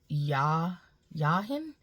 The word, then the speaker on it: Jachin: And in this particular card, you have the 2 pillars of Boaz, and the Hebrew pronounce it Yahin, and but it's Jachin.